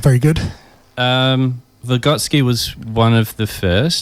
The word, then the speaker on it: Vygotsky: a background in education, I know it's pronounced Vygotsky.